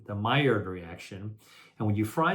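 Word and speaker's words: Maillard: golden brown that chemical reaction is called the myard reaction it's spelled m AI l l a r d the myard reaction and when you fry something at high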